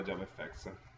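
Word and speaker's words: JavaFX: libreria che si chiama Java Effect scritto Java FX No ma è scritto con l'intenzione di pronunciare la FX come Effects E perché è in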